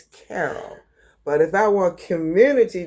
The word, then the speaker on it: Carol: Now, I told y'all in my other video, I pronounce her name curl. Her real name is Carol, but I say curl. How do you say your name, Ma? Carol.